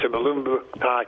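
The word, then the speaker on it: Mulumbu: They've got the guy from Kilmarnock, and obviously I can't pronounce his name. Malumbu. It's Malumbu.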